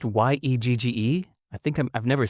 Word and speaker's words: Yegge: I think it's pronounced Yegge.